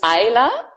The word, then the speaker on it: Ayla: So I will, it's Ayla, and the easy way to remember, it's like island, but without the end.